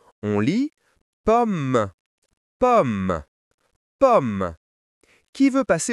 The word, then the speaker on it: pomme: Et le dernier mot, pomme. Ici, les deux m se prononcent comme un seul M. On lit pomme pomme.